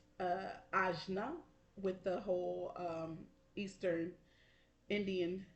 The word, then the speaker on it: Ajna: We have the third eye chakra, which is pronounced Ajna, with the whole Eastern Indian situation.